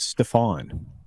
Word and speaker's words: Stefan: It's pronounced Stefan. Stefan.